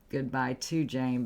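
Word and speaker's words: Gudbuy T' Jane: Goodbye to Jane, but it's spelled like the way I just said it.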